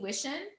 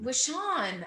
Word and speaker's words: Wishan: And then we had Destiny Wishen on, and she Wishan. I know. I butchered it.